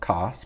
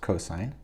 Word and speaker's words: cosine: the cosine of theta not pronounced cos pronounced cosine is equal to the